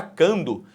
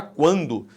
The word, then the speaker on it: quando: Aqui, ó, esse U, ele é pronunciado. Você não fala quando, você fala quando. Se você fala quando, esse U é pronunciado, o que existe é um ditongo.